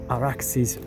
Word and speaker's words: Arax: by the Arax or Araxis river using the Persian Aadian Sumerian pronunciation. It's Arax but it's the derivation is much more ancient.